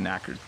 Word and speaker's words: knackered: very very tired so if you're knackered and you don't say the K at the beginning it's just a knackered Gloria Galvez says can